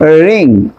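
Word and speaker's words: wring: For example খেয়াল করেন এখানে রিং, র্যাপ, রেক। বাট কিন্তু আপনি কি করবেন, ডব্লিউ এর উচ্চারণ সাইলেন্ট রাখবেন। ডব্লিউ এর উচ্চারণ হবে না, বাট আর এর উচ্চারণ হবে।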